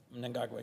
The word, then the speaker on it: Mnangagwa: And you always correct me on my pronunciation, so I'm going to try my best. Mnangagwa. Mnangagwa, yes.